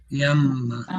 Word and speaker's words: llama: Hear that little j? But it's really short. Llama, llama. Yamma.